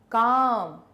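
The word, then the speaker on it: calm: Next is काम किसकी आवाज नहीं आई? एल मोर मोर ई की आवाज नहीं आई।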